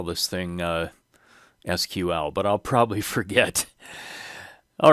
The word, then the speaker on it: SQL: for structured query language many people pronounce this as sequel but my understanding is that sequel spelled out is another query language so i'm going to try to remember to call this thing sql but i'll probably forget